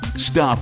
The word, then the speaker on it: STUPH: Stuff is spelled S-T-U-P-H.